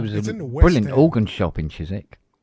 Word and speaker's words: Chiswick: You mean Chisik. Chisik. We don't pronounce the W.